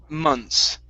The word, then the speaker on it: months: the word is pronounced mons so we're going to forget that there's a th there okay but we still need to pronounce the s okay so it's months months months okay okay so don't